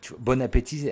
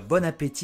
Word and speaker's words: bon appétit: Et ben, bon appétit, il n'y a pas de traduction. Ils disent même bon appétit. Mais ils prononcent le T. Bon appétit.